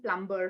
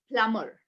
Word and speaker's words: plumber: wrong way okay so if you're saying plumber you know you don't have you should not be telling plumber from now on it's plumber okay all right well done